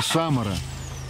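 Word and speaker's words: Samara: смотровая площадка Самара почти чтотёска Самары только ударение на первую буковку А вот это есть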